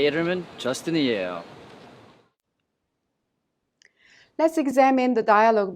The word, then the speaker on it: 이름은: The final consonant M in the second syllable 름 of 이름은 is prolonged to the next syllable 은, so we pronounce it 문.